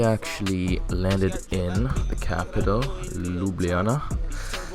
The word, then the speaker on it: Ljubljana: And we actually landed in the capital, Ljubljana. It's pronounced like that, I know, it's a fuck name.